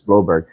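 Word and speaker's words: Blouberg: And they're like, no, it's not Blauberg, Chris, it's Bloberg.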